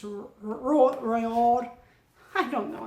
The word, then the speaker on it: Roald: Did I say Ronald? I think I did when I was talking about Charlie and the Chocolate Factory. Sorry, it's Roald.